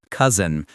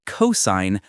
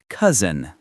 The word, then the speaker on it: cousin: Cousin, not cosign. Cousin.